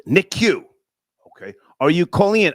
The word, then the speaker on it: NICU: Okay, someone else says Star, it's pronounced NICU.